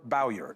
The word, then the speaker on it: Bowyer: Turning Point Actions COO, Tyler Bowyer, is here.